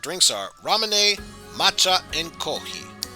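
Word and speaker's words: コーヒー: japanese culture and then there's also kohi or kohi which is japanese pronunciation of coffee so you could imagine the f but instead it's just kohi cause if you got rid of the f sun it kinda sounds like coffee with kohi koki is very popular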